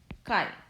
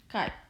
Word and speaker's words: chi: and a square but we read this as chi this is a great letter kai but we have we will pronounce this as chi the method of